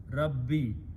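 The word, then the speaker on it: ربي: one page here okay now it becomes rabbo yi okay it's not easy to pronounce so we pronounce this page as a zer and we write it this way rabbi taste is there okay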